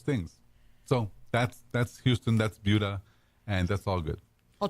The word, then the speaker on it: Buda: It's not Buda, it's Buda.